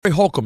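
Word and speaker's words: Holcomb: we GNA let hul be hul is your name spelled h o l c o m b yes God it's a classy name is it oh yeah you have a silent B well I was on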